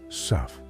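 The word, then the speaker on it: sough: Sao pronounced suff.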